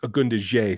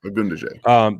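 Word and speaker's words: Ogundeji: See, now I said that with an A. It's Agundaje. Sorry, folks, I mispronounced that. Agundaje.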